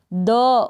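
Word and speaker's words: though: फिर टी एच को क्या द, ओ, दो पढ़ेंगे इसको, दो। और जी एच यहाँ पर साइलेंट है। काफ़ी सारे स्पेलिंग्स है जहाँ पर जी एच साइलेंट रहता है, वो मैंने आपको पहले बता दिया है।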